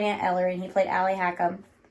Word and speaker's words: Ali Hakim: I played Aunt Eller and he played Ali Hakim. Ali Hakim. Yeah. That's actually how you say it. Because it's Persian.